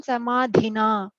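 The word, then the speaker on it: समाधिना: So here the only strong letter, strong pronunciation is on samadhina, right?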